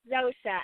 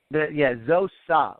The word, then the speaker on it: Zosha: Yeah, it's Zosha. I know. It's Zosha. Very deceiving. Zosa, like Zosa.